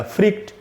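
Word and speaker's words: freaked: जैसे फ्रीक्ड आउट में इसका जो प्रोनाउंसिएशन होगा फ्रीक्ड का, वो एंड में डी से ट बनेगा फ्रीक्ड।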